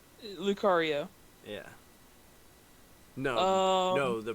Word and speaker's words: Lucario: Yeah, even Um, though I have trouble pronouncing the name. Luc- Lucaria? Lucario.